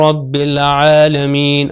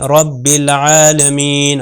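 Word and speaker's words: رَبِّ الْعَالَمِين: हम कहते हैं अल्हम्दुलिल्लाह रब्बिल आलमीन रब्बिल आलमीन रब देखिए बे के ऊपर शदा है अगर इसको गलती से मैं शदा सद्दा जो है इसका हक अदा ना करूं तो ये चेंज हो जाएगा अल्हम्दुलिल्लाह रब्बिल आलमीन तो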